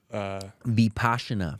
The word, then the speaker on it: Vipassana: just being in that 10-day, what's called this Vipassana. Vipassana. Yeah. So sitting there for 10 days and it's spelled like Mississippi, like VIPPA double SANA. Vipassana.